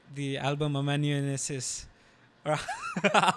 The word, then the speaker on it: Amanuensis: to butcher the name but like the album AM Manis or how do you pronounce it a mananes am mananes okay yeah it it like changed me personally